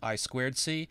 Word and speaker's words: I2C: boards the i2c that you see here is pronounced i squ c it's a communication standard for connecting peripherals to